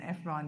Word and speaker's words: Efron: is easy, and Efron, there's the celebrity Zac Efron.